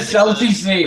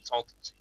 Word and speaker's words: Salton Sea: Salty sea, well, that's appropriate. No, Salty. Salton. Okay. I can't pronounce the dang freaking thing. It's Salton, Salton Sea.